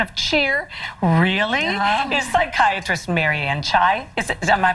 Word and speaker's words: Marianne Chai: Here to help turn those winter blues into a season of cheer, really, is psychiatrist Mary Ann Chai. Am I pronouncing it right?